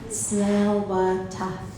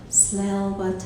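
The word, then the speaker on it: Tsleil-Waututh: to say the name of my people okay smell what smell what I smell so slow death in our language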